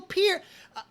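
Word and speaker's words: Peart: host interview him and say Neil Pier it it totally freaked me out when I first heard that you mean I've been saying as name wrong the whole time so we we went with Neil per the whole time growing up and The Lyricist genius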